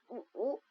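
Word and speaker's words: 五: 5 en chinois, ça prononce ou. Le ton doit baisser au début et monter un peu après.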